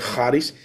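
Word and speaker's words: χάρις: palabra carisma, charis, se escribe charis, pero se pronuncia charis.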